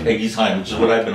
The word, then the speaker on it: Eguisheim: never know how to pronounce the name of the village. Right. Because if you read it in French, it's yeah. Eguisheim. If you use a German language, it will be Eguisheim.